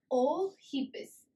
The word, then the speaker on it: Eohippus: So dawn horse was known as Oehippus. Okay. E over here is silent. Let's say, keep the word in mind, hippus.